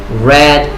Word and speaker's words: read: En presente es read, y en pasado pues suena como el color rojo. So, read, red, red.